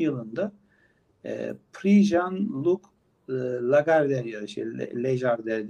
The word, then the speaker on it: Lagardère: Şimdi bu Belbek 2020 yılında doğmuş Belbek 2 yaşında yani 2022 yılında Prix Jean-Luc Lagardère yarışı, Lagardère diye okunuyor zannedersem.